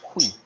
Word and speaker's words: oui: So the actual pronunciation for that is hui, hui, as in the hui. But if you use like an American accent, it's we.